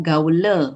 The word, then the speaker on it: Gaule: Ya, karena tulisannya Gaule, bacanya Gaul, jadi bukan Gaul. Karena tadi ada kunci, kalau A ketemu I dibaca apa tadi? A ketemu I dibaca? O. Bulat. Ya, makanya dibaca Gaul.